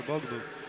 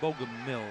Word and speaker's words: Bogomil: 2-point reversal for Bogomol. 26 seconds left. Weaver needs to make an escape. Matt Bogomil, right? Yep. He pronounced his name wrong.